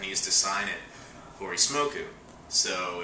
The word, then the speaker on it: Hori Smoku: used to sign it Hori Smoku, so if a Japanese person said it because of the way they pronounce the L's, they would say Holy Smoke.